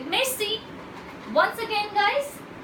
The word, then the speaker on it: merci: you say thank you in French you say Maisie once again guys Mel C at engagement thank you very much rich then